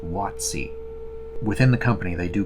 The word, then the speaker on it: WotC: coast by the way when you see it spelled like that WotC that is actually pronounced wattsy within the company they